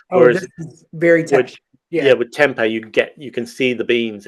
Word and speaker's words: tempeh: I mean, I think I grew up pronouncing it tempeh, but I don't.